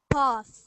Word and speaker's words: path: path now here you there's two ways with these words with the sound ah or a you can say path or path because there's a different accent uh split here so uh the northern accent and the US accent is path but I say path and there are some